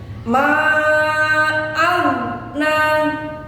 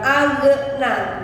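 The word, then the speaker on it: ما أغنى: Tidak boleh ada tawallud, ada pantulan. Sebab bukan qalqalah. Jadi tidak ghoghi ghubagh, salah tentunya. Ditahan. Ma aghna, itu yang betul. Bukan aghna, bukan.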